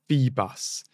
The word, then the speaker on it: Phoebus: a brilliant comment here it's feebus so basically um telling me how to say the name Phoebus so thank you Alice